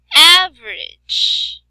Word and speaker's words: average: Like for example, average. So we have stressed average. Average.